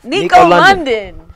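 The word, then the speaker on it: Nikko London: guest today you can introduce yourself Oh Nico Nico London yes that's the proper way to pronounce it fresh off the episode loving it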